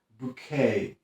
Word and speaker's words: bouquet: Następne bardzo często źle wymawiane słówko to bouquet.